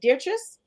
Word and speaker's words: Dietrice: uh I just want to make sure I'm pronouncing your name right is it dear trust yep Beatrice um dear just has such